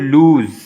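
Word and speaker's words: loose: फिर लूज़, तो ये देखें ये लॉन्ग वावल है, लूज़, यहाँ पे आवाज़ जो है हमने लंबी की है साउंड को, और आखिर में Z की आवाज़ निकलती है, लूज़।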